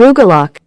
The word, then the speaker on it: Rugelach: Rugelach.